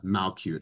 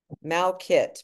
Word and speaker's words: Malkit: Nobody is doing exactly what you are doing because there is only one Monica Malcute. Am I pronouncing that correctly? Malkit, but close enough.